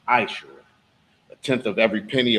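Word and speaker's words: מעשר: You can find this in Numbers 18:21, Malachi 3:8-10, means 10th in the Hebrew, and it's pronounced Ma'ashera.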